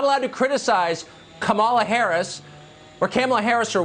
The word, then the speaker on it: Kamala: um hosts on Fox her name is pronounced comma like the punctuation mark La comma okay seriously